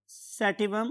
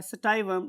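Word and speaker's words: sativum: That was Pisum सैटिवम, और मैंने कल वर्ड यूज़ किया था सटाइवम. आप दोनों में से कुछ भी याद कर सकते हैं या बोल सकते हैं. अगर आप इंटरनेट यूज़ करेंगे और डिफरेंट प्रोनाउंसिएशंस देखेंगे तो आपको स्टाइवम और सैटिवम दोनों प्रोनाउंसिएशंस मिलती हैं.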